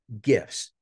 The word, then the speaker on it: GIF: that white folk use GIFs and since this is my presentation it is always hard G GIF we don't hear that soft G stuff here right that white